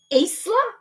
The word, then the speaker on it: Isla: Isla? I believe it's Isla. And if I had, for avoidance of doubt, there's an Australian actor called Isla Fisher, which is spelled ISLA.